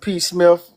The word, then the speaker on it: PSMIF: Yeah, I just pronounced it P. Smith, P. but Smith, okay.